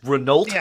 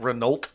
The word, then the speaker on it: Renault: your cars yeah that renault what kind of name is that renault cars you don't pronounce the consonants at the end i'm doing this on